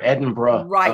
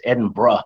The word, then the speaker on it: Edinburgh: Specifically, in the area around Roslyn Chapel near Edinburgh, Scotland.